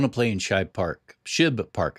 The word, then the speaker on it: Shibe Park: Shib Park, I think is the correct pronunciation.